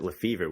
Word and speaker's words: Lefebvre: But yeah, I pronounce it Lefebvre, which much like you said, is kind of the boring, English way to take a more exotic name. And, Lefebvre is obviously a French name.